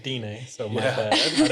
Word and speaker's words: Dene: yeah, so I think I it's said Dine, so my Yeah. bad. I didn't know how to pronounce Yeah, it. Dene. yeah, it's Dene.